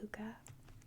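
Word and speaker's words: hygge: it called like fuzzy hookah h y g g e I believe it's pronounced hooka it's Danish word word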